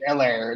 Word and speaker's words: Allaire: I thought it was hilarious, hilarious, but it's Allaire, not Allaire. That's lame. Yeah. But he's from LSU. He's a stud. So is that why that's why it's pronounced French probably too, because it's from New Orleans.